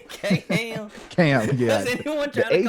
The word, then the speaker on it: Kham: Yeah, so Kham is how you pronounce it, right? Right, yeah, not K-Ham, Quam. Kham.